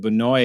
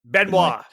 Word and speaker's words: Benois: But Benoy is Benois. Benois. Sorry. Yes, I know. That's right. No, I knew it was Benois. I just said it wrong.